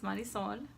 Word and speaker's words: Marisol: For those of you who don't know me, my name is Marisol. Or if you can roll your R's, it's Marisol, aka.